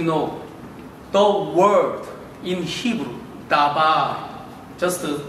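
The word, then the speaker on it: דבר: So in Hebrew, you know, the word in Hebrew, dabar, just pronounce together, dabar, dabar, dabar means word.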